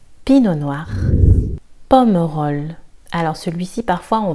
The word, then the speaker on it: Pinot noir: Une fois de plus, le T ici est silencieux. Pinot noir.